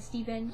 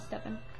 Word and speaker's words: Stephen: And then some people, like, say Stefan, and I'm like, oh, no, my name's not Stefan.